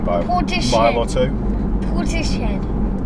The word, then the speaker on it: Portishead: Portishead. That's how you spell it. It is how you spell it, but it's not how you say it.